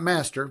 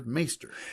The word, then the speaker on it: maester: sounds okay all right so um not not master maester yeah and so I I I I in my head mentally I kept pronouncing it meister and I watched a a video of him